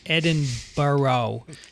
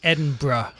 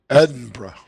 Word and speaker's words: Edinburgh: I've been cringing recently whenever you pronounce Edinburgh as Edinburgh. It's Edinburgh. Edinburgh.